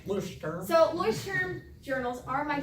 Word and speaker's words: Leuchtturm: These are called Leuchtturm journals. That's how you say it. I checked, that's how you pronounce this word, Leuchtturm. That's kind of the Americanized accent, but that's how you say it. Leuchtturm.